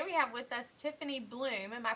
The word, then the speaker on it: Bluhm: here's Tiffany today we have with us Tiffany bloom am i pronouncing that correctly yes you are yes I